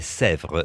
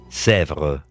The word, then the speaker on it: Sèvres: No, de Sèvres. Sèvres es de un lugar, justamente, que estaba en Francia y donde se hacían potiches, este tipo de porcelana. La fábrica de potiches está ahí. Se escribe S-E-V-R-E-S. Sèvres.